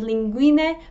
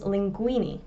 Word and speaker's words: linguine: In the UK, fusilli becomes fusli, tagliatelle becomes tagliatelli, and linguine becomes linguini.